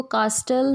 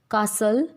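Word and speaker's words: castle: टी, इसको कास्टल नहीं बोलते, लिस्टन नहीं बोलते, कासल, लिसन।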